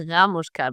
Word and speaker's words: Ramushka: So my second co-host is Ramushka. Did I pronounce it correct? Well, I would stress the A, so it's a Ramushka, but it's a weird last name, so whatever.